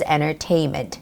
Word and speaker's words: entertainment: by saying entertainment entertainment or sort of make the soften T sound which is entertainment entertainment okay and the third one